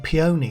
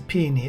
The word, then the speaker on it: peony: I kept saying peony, like find a pony, but it's a peony.